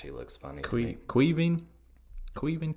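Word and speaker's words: Caoimhín: Queven Kelleher? I think it's how you say it. It's Irish. It's Irish for Kevin. That's what I read. Wow. Queven.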